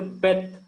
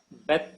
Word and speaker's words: Beth: When there is no dot in Beth, that is transliterated as V.